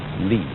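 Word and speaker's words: 理: wood or the fiber in muscle and it's pronounced lee this is a character then meaning really the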